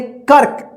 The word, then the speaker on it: कर्क: लेकिन रेफ की मात्रा जो कल हम क्लास कराए थे, जिस अक्षर में लगा रहता है उस अक्षर के साथ आधा र का उच्चारण नहीं होता है, उससे पहले वाला जो अक्षर यहाँ पे रहेगा, जैसे यहाँ पे क, तो इस आधा र का उच्चारण जो है ना क के बाद होगा, जैसे इसको पढ़ेंगे कर्क।